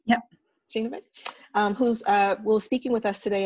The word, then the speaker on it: Schoenebeck: Welcome to Data for Good speaking series featuring Sarita Schoenebeck. Am I pronouncing that right? Yep. Schoenebeck, who's speaking with us today about building just technologies in an unjust world.